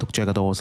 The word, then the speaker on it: Jaquet Droz: It's from JD, which is pronounced roughly as Jaquet Droz.